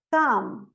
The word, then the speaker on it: thumb: Por exemplo, dumb, thumb. Eu não pronuncio o B.